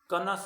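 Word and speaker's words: connoisseur: कनस कनोसियर नहीं है, कनस है. इसका प्रोनाउंसिएशन पर आप ध्यान रखें.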